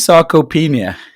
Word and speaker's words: sarcopenia: What is sarcopenia? Firstly, is that how you say it?